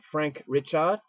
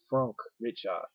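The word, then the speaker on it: Franck Richet: English subs directed by Frank richer although I think the way to pronounce these name in French is Franck richer so I could be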